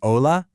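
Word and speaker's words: hola: You see ola and you know that h is silent.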